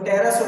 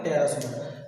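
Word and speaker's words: pterosaur: देखो नेक्स्ट है आपका, बहुत सारे वर्ड मिलते हैं आपको, जैसे लिखा देखो टेरासोर पढ़ेंगे, इससे क्या पढ़ेंगे? टेरासोर।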